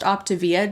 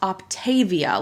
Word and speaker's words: Optavia: which by the way is pronounced optivia not optavia like a lot of their own reps seem to pronounce it according to the company's own videos their own promotional material their own website all these things they pronounce it optivia so that's how I'm